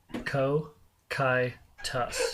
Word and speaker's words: Cocytus: Cocytus. Co-kai-tus. Okay! Cocytus, from the Greek word for lamentation. what did you do? Cocytus. Got it. Cocytus. Cocytus. Yeah, well, I mean that's the English pronunciation.